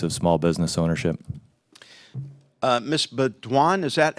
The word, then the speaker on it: Beaudoin: Beaudoin, is that how you pronounce it?